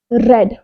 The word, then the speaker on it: read: Then उसके बाद we third क्या है, वी थर्ड है, यानी वर्ब की थर्ड फॉर्म है रेड, लिखा जाएगा रीड, बस प्रोनाउंस किया जाएगा रेड।